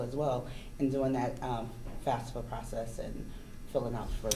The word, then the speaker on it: FAFSA: come and they'll get help filling out their FAFSA forms. Is that right? Am I Yes. saying it right? Yes, FAFSA, you got okay.